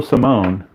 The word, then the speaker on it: Salmon: So Chico Simone, first I thought his name was Salmon, but it is pronounced Simone.